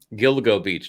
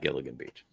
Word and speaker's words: Gilgo Beach: had kill go beat but Gilgo Beach not Gilligan Beach oh sorry uh so